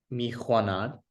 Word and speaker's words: میخواند: دوست شما چینی میخواند.